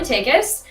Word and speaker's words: Takacs: My name is Takacs. It's pronounced like take us somewhere.